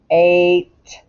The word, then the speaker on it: eight: word now eight yeah what sound does the e make that's right it says long a so very strange the igh is silent but you hear the t eight that's it e-i-g-h-t eight the number eight uh if you're on